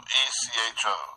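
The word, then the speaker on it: ἔχω: Echo, E-C-H-O, and it's pronounced this way.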